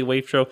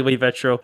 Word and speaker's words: wavetro: There's no official way to pronounce it. You could say wavetro, you could say wavetro.